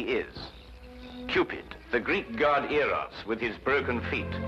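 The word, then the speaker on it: Eros: well what about the heroes with a broken feet a slight confusion on the ladies part probably the influence of cockney stagehands she added an h where there shouldn't have been one what then spell it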